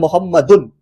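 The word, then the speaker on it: مُحَمَّدٌ: देखिए यहाँ मोहम्मद एक मर्द का नाम है, तो कैसे हम लोग इसको प्रोनाउंस कर रहे हैं? मोहम्मदुन, दो पेश के संग।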